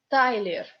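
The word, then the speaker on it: Тайлер: Tyler. Accent is on A, so Y is unstressed.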